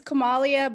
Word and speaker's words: Kamalia: Is it Kamalia? It's Kamalia, but you know what? It's okay. It rhymes with Somalia if it helps any, but I'm okay with That does.